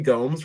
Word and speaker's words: Gomes: Henry YYZ your boy Henry Gomes rhymes with holes from gry slack he's